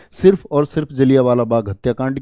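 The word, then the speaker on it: जलियांवाला: है एक घटना लिखेंगे जलियावाला बाग जलैया वाला बोलते हैं वैसे तो और बोलते टाइम उच्चारण में हम लोग बोल देते हैं जलिया वाला जलिया वाला बाग हत्याकांड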